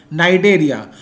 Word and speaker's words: Cnidaria: The next is phylum Coelenterata or Cnidaria. C is silent here. Cnidaria.